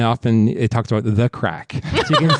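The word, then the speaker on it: craic: My nerd word is crack. But not spelt the way you think it's spelled. It's spelled C-R-A-I-C.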